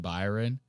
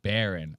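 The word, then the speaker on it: Barron: Trump talks about his son Byron and I thought that this was funny as hell. Dude, this is so funny. The way or Byron Baron. I said his name wrong.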